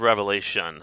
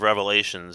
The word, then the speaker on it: Revelation: or a lot petty it's the book of revelation there's no s at the end he calls it the book of revelations as he starts making fun of it he doesn't even pronounce it the way that it's shown on the screen i i know nothing